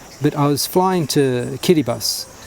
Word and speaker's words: Kiritimati: And if you look at the spelling, it looks like it's spelled kitty kittyati or kitty tamati for Christmas as well because the the t the ti is an is an s.